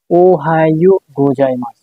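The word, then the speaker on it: おはようございます: জাপানিজে ওহায়ু ওহায় Ohio Ohio গোজাইমাস গোজাই মাস আচ্ছা এই যে শব্দটা লিখেছি এটার এটা এটার এটার উচ্চারণ হচ্ছে কি উহায় গোজাইমাস উহায় গোজাই মাছ এর অর্থ হচ্ছে কি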